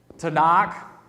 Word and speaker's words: Tanakh: past um you have the jewish tanakh and uh i just think you're supposed to pronounce that with a harder k and so this is